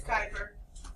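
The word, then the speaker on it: Kuiper: It's Kuyper. It's Kuyper, I know. That's how we pronounce it.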